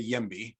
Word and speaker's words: YIMBY: what it stood for i didn't know the uh if it was if it was just a uh just an acronym or if you pronounce it like that so that's a good